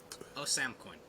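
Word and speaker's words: Ousamequin: s a m e q u i n o sam coin awesome which i know how to say his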